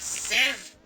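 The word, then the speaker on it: sieve: Pronounced Civ. S-I-E-V-E. Civ. There's 2 silent letters.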